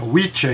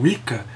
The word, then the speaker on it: Wicca: Que é assim que se pronuncia, é Witcha e não Wicca.